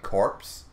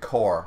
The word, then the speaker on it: corps: is pronounced is is spelled c-o-r-p-s like corpse but you pronounce it core like why not just